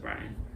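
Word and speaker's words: Bryn: I think it's pronounced Brian, because it's spelled B-R-Y-N instead of B-R-I-A-N or B-R-Y-A-N.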